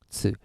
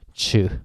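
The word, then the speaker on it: つ: They always go chu, chu, but it's tsu, okay?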